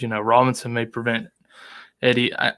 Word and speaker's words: Etienne: It says, Robinson may prevent Eddie. I'm thinking it's Etienne is how that's pronounced.